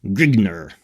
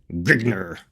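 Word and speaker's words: Grignr: And the convention is that Grigner is pronounced Grigner. So let's try to remember that maybe. That's the one thing we'll try to be consistent. Grigner. It helps to add a little bit of grunt.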